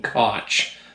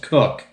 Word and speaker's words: Koch: Jim Koch, because that's how it's spelled. But the man himself has been on the commercials saying, "I'm Jim Cook." So it's pronounced Cook.